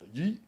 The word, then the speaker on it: Yeat: It's a one syllable. Yeah. Yeah. And it's like a sound. It's a sound, bro. And that was on Vine, Yeat. Yeat.